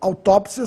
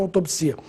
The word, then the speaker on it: autópsia: que vocês sai que os dicionários registram as duas formas com acento autópsia sem acento autopsia eu prefiro autópsia por